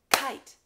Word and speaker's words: kite: Sun Sun one syllable kite kite now although you see two valves e is silent getting all of its power over to the eye making it long and strong and saying its name often the valves indicate